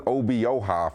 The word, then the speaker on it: Obioha: They have my man Harlan Obioha, for all you West Virginia fans that have come in my DMs for not being able to say his name correctly.